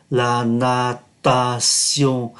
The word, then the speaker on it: la natation: La natation, chúng ta đã học ở trong cái phần phát âm T mà đứng trong cái cụm ký tự T-I-O-N, phát âm là sion, la natation, la natation, là danh